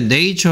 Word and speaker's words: nature: 자, 네이처에서는 이 A의 발음에 대해서 좀 설명해야 되겠습니다. 자, A가 가진 네 가지 소리는 네이름을 불러줘 A, E, A, 어 이렇게 가르쳐준 적 있죠. 원래 정확하게 하려면 발음 기호 A, E, A, 어 이런 소리인데요. 됐습니까? 그 중에 네이처 할 때 A는 A 발음이 되고 있죠.